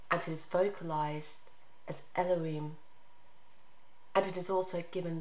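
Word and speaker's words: אלהים: must know is that the name which is written with the letters jorte van gaay and is pronounced as elohim reflects its essence for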